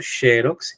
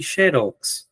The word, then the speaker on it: xerox: Eh, se admitem as duas pronúncias, viu? Sherox e xerox.